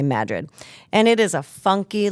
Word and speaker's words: Madrid: Now Madrid, not Madrid. It's spelled Madrid like the Spanish town, but it is they it's not how they pronounce it. They say Madrid.